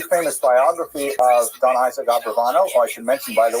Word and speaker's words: Abravanel: I should mention, by the way, many people pronounce the same Abarbanel, and that's because of the it's much easier, as Stephen says, it's much easier to rhyme the song to the name Abarbanel. You know what I'm talking about, right? With Schlock Rock version of Abarbanel. But it's most likely pronounced Abravanel or Abrabanel. So we'll stick with the scholarly norm, although you know who I am talking about.